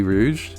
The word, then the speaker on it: Rouge: Is it Rouge or Rogue? How do you pronounce her name? Ace's mom's name. Oh, Portugas de Rouge. Yeah, Rouge. Yeah.